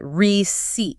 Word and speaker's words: receipt: the original Latin, so they locked the P back into the spelling, even though no one was pronouncing it anymore.